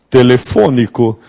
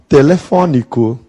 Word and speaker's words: telefônico: lei dentro da reforma Em Portugal eles costumam usar o som aberto no Brasil nós costumamos usar o som fechado amanhã eu vou comprar um novo aparelho telefônico Se eu estiver em